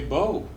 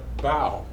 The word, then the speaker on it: bow: what is this word you might say bo but i would say well the violinist finished performing put down his bow and took a bow it's two words pronounced totally differently than have total different